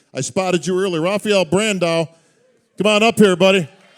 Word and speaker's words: Brandão: Rafael Brandao. Come on up here, buddy. Brazil's finest. I do want to make one observation here, or observation, as it would be. Brandao rhymes with Sandow.